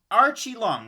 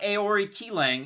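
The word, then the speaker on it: Aori Qileng: yup you got it so it's archie long archie long not aori ki lang it's r chi long if you're going with the pronunciation and he's coming out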